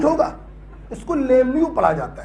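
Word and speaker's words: Lemieux: साला ई भी साइलेंट, साला एक्स भी साइलेंट। अबे सपने में आया था क्या मेरे? कि ये साइलेंट होगा। इसको लेम्यू पढ़ा जाता है।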